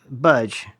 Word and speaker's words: Budge: The BCH. No, budge. The budge. Yeah, this is got to be silent. Budge.